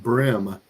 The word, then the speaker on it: bream: Pronounced brim. Interesting. Pronounced brim.